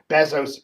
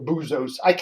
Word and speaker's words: Bezos: Jeff Bezos buying, or Bezos, or Boozos. They always say, Dave, you're mispronouncing it. It's Bezos, it's Bezos, it's Bezos, it's Bezos, it's Bezos, it's Boozos, whatever.